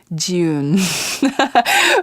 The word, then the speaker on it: Jeeyoon: website it's my name people find it difficult to pronounce my name but I always say the month of June in southern accent June so my name J